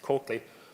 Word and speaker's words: Coakley: There is a Coakley, which I'm reliably informed by my Wexford friends is how you actually pronounce that name, not called Clough, which is what I would pronounce it as, but Coakley.